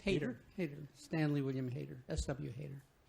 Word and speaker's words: Hayter: How's it pronounced? Hayter.